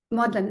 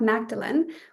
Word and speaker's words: Magdalene: And then we have, well, Magdalene is not how you say it, because this is just how I say it because I'm at Oxford and that's what we call the college.